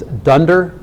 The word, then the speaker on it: dunder: We call these dunder. We call them dunder methods. So dunder short for double underscore, and usually the ending underscore is implied. So that would be pronounced dunderdoc.